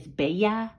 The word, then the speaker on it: bella: You guys, Janae gave me a little tutoring lesson on how to say pretty is bella.